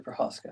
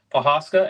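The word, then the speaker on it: Procházka: Yuri Prochazka. That's right. Prochazka, and lost to round 1 knockout Pereira.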